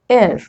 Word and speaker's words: heir: Rule number 2, in some words, H is silent, that means it is not pronounced. Which are these words? Hour, honest, honor, air.